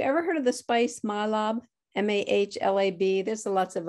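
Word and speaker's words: mahlab: um have you ever heard of the spice mylab m-a-h-l-a-b there's there's lots of other pronunciations of it but the pit that's inside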